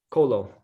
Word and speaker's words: Colo: Colo.